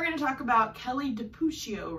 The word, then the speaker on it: DiPucchio: So one thing that she said when I was researching her online was that her last name rhymes with Smoochio. Can you blow smooch? So Kelly DiPucchio said her name rhymes with Smoochio.